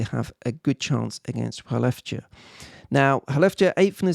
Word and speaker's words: Skellefteå: The next matchup includes another team from Sweden, Skellefteå, as you have to pronounce it.